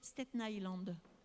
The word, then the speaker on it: Staten Island: Il paraît qu'il faut prononcer Staten Island.